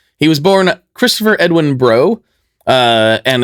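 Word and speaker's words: Breaux: So, he was born Christopher Edwin Bro. Uh, and it's pronounced Bro, but it's spelled the French way.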